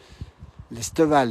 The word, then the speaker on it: L'Esteval: L'Esteval, hein, c'est comme ça que tu prononces.